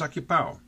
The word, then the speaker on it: ocupado: Ocupado becomes ocupao, with the end rhyming with wow instead of the end of avocado.